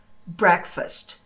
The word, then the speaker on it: breakfast: Breakfast. Ela, apesar de ela ter aqui dentro a palavra break, exatamente da mesma forma que se escreve, a pronúncia dela não é break, e sim break. Breakfast. Ok?